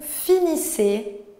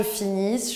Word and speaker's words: finis: finit, nous finissons, vous finissez, ils finissent, elles finissent. Donc vous voyez, pour le singulier, on ne prononce pas les terminaisons. Je ne dis pas je finisse, je dis je finis.